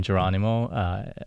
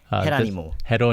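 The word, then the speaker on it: Jerónimo: Cuban society sure so I used to pronounce his name Geronimo being an American I am but hetero anymore yeah it's what I've been corrected multiple times by the family members as I was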